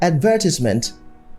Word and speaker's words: advertisement: Most people say advertisement or advertisement. Some people say derogatory and others say decorum. So these are wrong stress. The proper stress patterns are advertisement, derogatory, decorum.